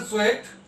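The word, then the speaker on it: Tswett: Next, Michael स्वेट, ये टी का pronunciation नहीं होती है, Michael Soet is the father of liquid chromatography and developed his ideas in the earliest 1900 century.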